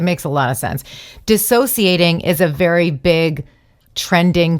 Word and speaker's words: dissociating: A lot of people are using it, and they're saying it wrong. Everyone's saying, I'm disassociating. They're saying disassociate.